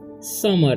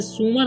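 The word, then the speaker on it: summer: हैं हम डे ऑफ समर ठीक इसे समर इसे सुमर नहीं पढ़ना है बहुत सारे स्टूडेंट्स इसे सुमर पढ़ने लगते हैं जिससे उसका उच्चारण गलत हो जाता है इसे समर पढ़ना है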